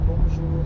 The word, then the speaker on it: bonjour: Notice how the J in bonjour sounds a lot like the middle of the English word measure.